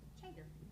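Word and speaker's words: Tjader: Okay, Jan Trader, is that how you pronounce it? I apologize if I said that wrong. Close. How do you say it? Chair. Like CH. Oh, Trader.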